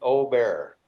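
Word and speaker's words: Åberg: How do you say it? Ludwig Ober.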